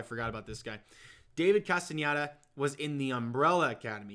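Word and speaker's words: Castañeda: Castaneda, that's how you say it.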